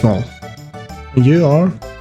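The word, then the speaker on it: Marle: It's um Marl. I think it's pronounced Maul. Moral. Moral. It's Mal.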